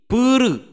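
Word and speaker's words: プール: Tapi kalau sekarang kolam renang, nah desu ka, nama tempat menjadi puru. Puru. Pool. Naik. Enggak, orang Jepang belum bisa mengucapkan pool karena ada pelafalan L, jadi dia mengucapkan pool itu menjadi puru.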